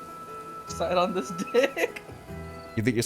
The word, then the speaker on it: Sidon: Real quick, how do you pronounce his name? What is it? Sidon. Side on this dick.